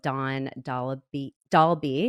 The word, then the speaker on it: Dawn Dahlby: I am so happy to welcome on the show Dawn Dahlby. Is that pronounced right?